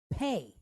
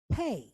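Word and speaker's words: פּ: But when it does have a dot, it's called the letter Pe. Okay? So you have Fe and you have Pe.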